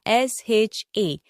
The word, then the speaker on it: sha: Sha s h a s sh h a is pronoun sha and it means drink but expressively it means suffering and experience.